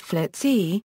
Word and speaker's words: FLETC: The FLETC, commonly pronounced FLETC, is a consolidated training facility that provides basic and advanced training to U.S.